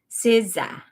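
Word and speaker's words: SZA: to NYC or La siza is how you pronounce it yeah so hot one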